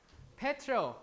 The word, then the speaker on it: petrol: When we pronounce it stress is important, right? We say petrol, right? Petrol. So stress is there.